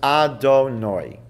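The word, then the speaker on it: Adonai: times when we come across God's name we pronounce his name as our donor now that's not what it says but that's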